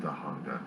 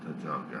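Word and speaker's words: Tujunga: It's pronounced Tahunga, not Tajunga.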